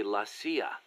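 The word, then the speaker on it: la CIA: So the story goes around here they say Lassia instead of CIA. Huh. Um nothing strange about it. That's how it's pronounced when you read it in Spanish.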